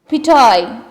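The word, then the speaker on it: pitohui: Pitoy. It is pitoy. Like this. You can pronounce it.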